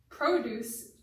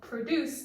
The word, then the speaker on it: produce: important to note that the change of stress can um make the meaning of the word different so for example produce or fruit and vegetables well produce means to make something so why don't we